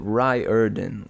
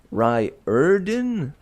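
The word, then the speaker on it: Riordan: am still on this how is it Ry ER done it looks nothing like that it is Rio erden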